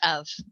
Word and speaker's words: of: when kids sound out the word of they write u v because that's what it sounds like so this is a word that they have to learn very often when they look at this word they say for just know if your child does that don't panic just say nope that's of doesn't start with an f okay how about c